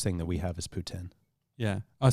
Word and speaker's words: poutine: probably the worst thing that we have is Putin yeah I said that's how I say poutine it's Putin technically from what I understand it's called Putin Putin but ninety ninety percent of the population says poutine mm-hmm because it's got the e at the